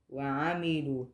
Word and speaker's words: وعملوا: وعملوا Huh? وعملوا وعملوا. Yeah, and it's not, so you were saying noon before. It sounded like a noon.